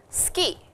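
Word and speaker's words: 好き: the conversation which was suki means like and the way it is pronounced in japanese is ski so it sounds like skiing but it is not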